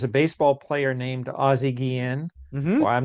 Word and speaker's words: Guillén: you again the pronunciation, the correct, not the Anglicized version, but the correct pronunciation of your last name, Michael, once again is Guillén. It is Guillén. So, it's like the Yeah, it's Guillén. You said it perfectly, Richard,